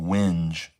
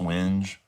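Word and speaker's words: wenge: And this is called winge. A lot of people say wing, but it's actually pronounced winge.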